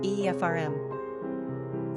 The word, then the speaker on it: Ephraim: Pronunciation, Efrayim.